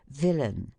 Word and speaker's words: villain: ending in AI n the accent is placed on the former syllable as villain which is pronounced as